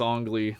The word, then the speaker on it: Ang Lee: Directed by Ang Lee. Ong Lee, sorry, it's Ong Lee. That's how you pronounce it.